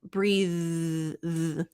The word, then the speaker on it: breathe: because now we've got it ends in an e but the E is silent so the sound is breathe and that's going to